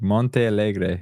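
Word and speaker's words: Montealegre: actress Felicia Felicia M Felicia M it's like Monte Allegre I think is how you say it um in Roxbury Massachusetts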